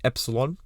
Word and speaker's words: epsilon: weird looking e it's a Greek letter it's pronounced Epsilon essentially it's just a list of possible of